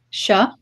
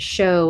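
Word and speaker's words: seo: Sha. And I do, I speak Munster Irish. It may be pronounced sho in some other parts of Ireland, but in the south it's pronounced sha. Sha.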